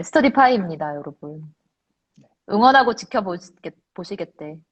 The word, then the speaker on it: 스터디파이: 어떤 분이 나한테 스터디파이가 아니고 스터디파이라고 발음이 뭐야? 스터디파이야, 파이야? 파이죠. 먹는 파이 할 때 파이입니다.